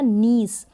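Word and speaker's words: niece: फिर ये है न ई स, ये बन गया नीस, नीस का मतलब है भतीजी। यहाँ पर आई ई को आप प्रोनाउंस कर रहे हैं बड़ी के रूप में, लॉन्ग ई इसका उच्चारण प्रोनाउंसिएशन हो रहा है।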